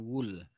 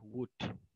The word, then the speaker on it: would: Ingat ya, pelafalannya bukan wool. Saya berkali-kali menemukan mahasiswa yang melafalkan wool dan bukan wood. Yang benar adalah wood, ya.